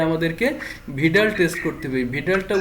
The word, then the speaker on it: Widal: ভিডালটা উচ্চারণ নিয়ে অনেকের অনেক ঝামেলা, আমি এক সময় এটাকে উইডাল বলতাম, তবে WIDAL এটাকে ভিডাল উচ্চারণ হবে।